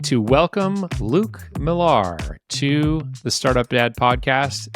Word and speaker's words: Millar: on a list, I tell them Miller, because there's so much more quickly able to find my name. If I say Miller, then if I say Millar, and then they say, how do you spell that?